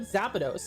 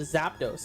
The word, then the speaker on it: Zapdos: I call Zap I call it Zapados instead of Zapdos. Apparently that's wrong.